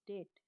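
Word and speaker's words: debt: A person who is unable to पे once डेट, ये जो वर्ड है डी ई बी टी, इसमें बेस्ट साउंड वो जो है साइलेंट रहती है, और प्रोनाउंसिएशन क्या होती है, डेट, ध्यान रहे इसका।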